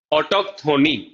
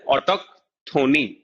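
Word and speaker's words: autochthony: ऑटोक्थोनी, इसको प्रोनाउंस किया जाता है ऑटोक्थोनी, राइट।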